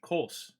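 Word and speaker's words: Kölsch: Coffee, I don't know how you pronounce that. Kolsch. Kolsch.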